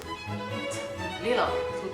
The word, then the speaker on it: little: Parce que les anglophones ne prononcent pas vraiment le T en tant que tel, ils font comme le L. Donc quand on dit par exemple little, en fait le T est vraiment subtil, c'est little.